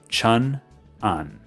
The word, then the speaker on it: Cheonan: For those of you who don't know, I live in a city called Cheonan, spelled Cheonan, Cheonan. That's how you pronounce it.